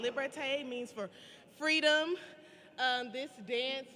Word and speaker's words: liberté: So this next piece that we're about to perform is pronounced liberté. It's called liberté, means for freedom.